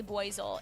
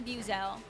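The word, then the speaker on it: Buizel: I literally cringe whenever I hear someone say boel it does not sound correct I say Buel hippos edman that no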